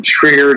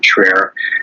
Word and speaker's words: Trier: In Trier, Germany. So Trier is spelled like Trier, Trier, and it is a very religious city.